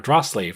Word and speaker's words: Drasle: been, up until recently, probably mispronouncing as Drasle family, because that's how it looks like how you would say it, based on how it's spelled. But then I very recently learned, I felt like it was just in time, that somebody pointed out that, it's just an abbreviation of Dragon Slayer. So it's probably Drasle family, or Drasle. It's probably like 2 syllables.